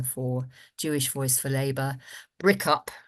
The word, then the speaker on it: BRICUP: BRICUP, as it's called, as its acronym is pronounced, is the leading organisation in this country on the question of academic boycott.